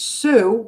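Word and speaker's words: Sioux: There's Sue, which is spelled S I O U X.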